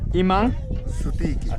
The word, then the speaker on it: Iman sutiki: Imansitunki. Iman Situnki? Iman Iman Sutiki. Sutiki. Iman Sutiki. Iman Sutiki, voilà.